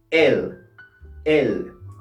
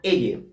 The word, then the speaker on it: elle: ya has percibido esto que al final no se pronuncia la letra e en francés si lo dijéramos en español diría elle pero en francés se dice el el y es importante que sepas que en francés aquellas palabras que terminan en e y esta e no está acentuada no se pronunci por eso que en francés solamente decimos el el bien Ahora pasamos a